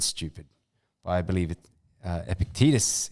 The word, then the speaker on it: Epictetus: but I believe it Epictetus is how you pronounce it or in us if